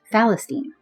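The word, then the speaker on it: فلسطين: The Arabs, who had no name of their own for this region, adopted the Greco-Roman name Palestina that they pronounced Falestine.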